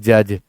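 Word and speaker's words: judge: गौर करिएगा जे यू डी जी ई होता है जज कहां कहते हैं आप बोलते हैं जज तो यह रूल है याद करें स्पेलिंग रूल के अंतर्गत डी और जी एक साथ आते हैं तो प्रोनंसिएशन में डी साइलेंट हो जाता है स्पेलिंग में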